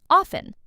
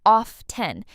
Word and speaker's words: often: Often. Some learners pronounce the t clearly. Of 10, but a lot of native speakers say often with a silent t.